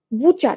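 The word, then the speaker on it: butcher: বুচার। এটা spelling এর জন্য লাগে। বুচারবাচার। বানানটা কিরকম? আমরা উচ্চারণ করি বুচার। বাট বানানটা হচ্ছে বাট প্লাস চার। ঠিক আছে? এই টিটা এবসেন্ট থাকে বুচার।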